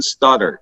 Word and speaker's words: Stoddart: special guest here today his name is Justin Stoddard is that how you pronounce it right says perfect act perfect wonderful